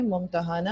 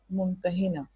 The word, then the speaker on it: ممتحنہ: اسی طرح سے اس کے تلفظ دو طرح سے کہہ سکتے ہیں، ممتحانہ یعنی کہ زبر لگا ہوا ہے سب پر، اور ممتحنہ یعنی کہ زیر ہے، ایک پر زبر ہے، ایک پر زیر ہے.